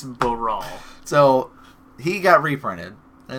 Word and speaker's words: Baral: Oh, who was it saying barrel? It was, people say barrel, and that's not correct. It's Brawl.